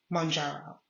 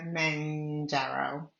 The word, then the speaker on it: Mounjaro: It is of this, and then came Mounjaro, the name that is pronounced at least 4 different ways. We have Mounjaro, we have Manjaro, we have Mengiro, and Menjiro.